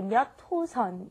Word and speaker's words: 몇 호선: All right, and be careful with the pronunciation when you say 몇 호선. You want to say 몇 호선. It's kind of like it's not written that way, but that's how you want to pronounce it.